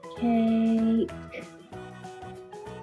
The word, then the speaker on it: cake: In a magic E word, the E is silent. We don't say it, but it makes the vowel say its name. This vowel is A. So we'll say cake. Cake.